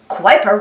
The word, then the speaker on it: Kuiper: map pluto's in the kuiper belt kuiper rhymes with wiper it is full of